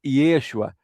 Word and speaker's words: Yeshua: Jesus, por exemplo, é, porque o nome original em, em hebraico é Yeshua.